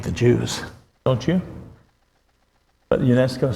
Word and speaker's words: UNESCO: of it called um not Nesco no UNESCO yeah you you got it you got UNESCO UNESCO United Nations educational